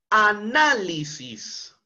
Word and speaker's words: análisis: Esta es una palabra esdújula, porque cuando hacemos la separación en sílabas, tendremos a na. li sis, es decir, está en la penúltima sílaba, en la mayor entonación de voz, en la sílaba na.